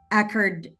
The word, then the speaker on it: ADKAR: So I use a method which is called um, the Ackard Ackard model, ADCARD model, Mhm. ADCARD model. It's spelled as ADKARD.